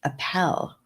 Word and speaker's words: Appel: Appel like apple.